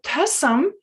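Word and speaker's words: thösam: different word all together it's tasam so tasam consists of two syllables tur it's kind of like listening receiving the information and some means to contemplate it so what is studies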